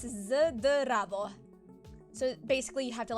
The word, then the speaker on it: Zdravo: Instead of Z, it's ZD instead of ST. So instead of Zdravo, it's Zdravo.